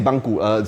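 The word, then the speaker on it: bangku: in the original bill still say banku spelled like this ba and gku we say banku with a rising tone to fit the phonetics of the the Chinese dialect this was a if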